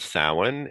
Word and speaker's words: Samhain: final harvest is called samhain it's spelled s-a-m-h-a-i-n and in gaelic s-a-m sounds like sow like cow and that is um